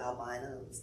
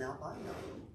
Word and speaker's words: albino: are known as an albino here's a clever way to remember how to say it and here it goes a guy like me named al said by no means should you be ashamed